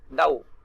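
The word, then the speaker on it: though: अब देखो ये जो वर्ड है ना, क्या लिखा हुआ है, बहुत लोग से थ्रू पढ़ते हैं। क्या पढ़ते हैं, थ्रू पढ़ते हैं, लेकिन इसका जो एक्चुअल प्रोनाउंसिएशन क्या है, डाउ।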